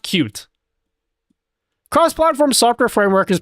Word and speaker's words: Qt: I've never heard cutes UI framework being called cutes. I actually think it's literally pronounced cute.